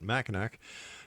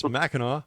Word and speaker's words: Mackinac: And once again, don't make that mistake I made by calling it machin. It's machino.